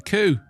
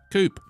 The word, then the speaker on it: coup: coups a coupe a coup Coupe oh yeah CP coup no one pronounces it Coupe it's a coup not a chicken coup not a chicken